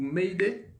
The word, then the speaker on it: m'aider: Pouvez-vous m'aider? Beleza? Essa estrutura aqui você precisa saber, tá? Bem simples. Pouvez-vous m'aider? M'aider. Você não vai pronunciar o R aqui, tá?